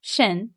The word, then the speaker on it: 神: And second tone, 神, is a rising tone.